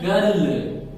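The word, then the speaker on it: girl: अब यहाँ पे देखिए अगला है गर्ल, इसको हम गर्ल, और आप साइलेंट करेंगे गर्ल, क्या हो जाएगा गर्ल गर्ल गर्ल गर्ल।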